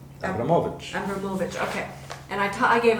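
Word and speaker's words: Abramović: Abramovich.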